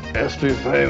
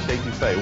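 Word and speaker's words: étouffée: Sometimes a person's first visit here can be a little challenging on Cajun pronunciation. I want some estouffee with crawdads. What Bubba's trying to say is crawfish etouffee, one of our most popular Cajun dishes.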